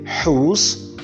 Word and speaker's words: whose: WH in these following words are to be pronounced as who and not we. So we said who and not who. We say whose, whole, and whom.